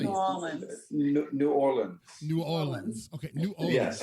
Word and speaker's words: New Orleans: am I saying it wrong I should say nawlins which how should I say New Orleans New Orleans New Orleans okay New Orleans New Orleans let's